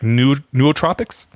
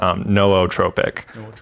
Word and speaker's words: nootropic: I'm pronouncing this right neurotropics so the official pronunciation is no o trop Tropic nootropic um if you speak Greek yeah if you speak Greek the the community usually says nootropic um okay yeah all